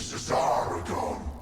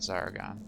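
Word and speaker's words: Szarekhan: So both the S and the Z are pronounced as Cesaragon, is how you say it, not Zaragon.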